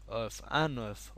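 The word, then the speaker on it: un œuf: দেজু কিন্তু যদি বলেন একটি ডিম তাহলে কিন্তু আবার বলতে এফ এর উচ্চারণ হবে আনফ অথবা দেজু দে হলো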